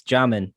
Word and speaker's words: Jamin: well it's spelt j-a-m-i-n i know people should start saying it's jamming john and davis not it can't be jaime because there's no y in there yeah man i'm